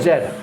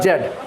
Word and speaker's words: Z: so you are practicing how to pronounce z not g or zed zed either zed or Z not Jed.